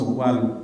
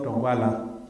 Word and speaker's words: Ogwal: But I should know and be able to pronounce Ogwal properly, not Ogwala.